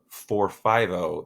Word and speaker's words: Forfivo: And then the last of our bupropion hydrochloride formulations is the extended release product 450. That's spelled FORFIVO XL. Now, if you say it slowly, 450.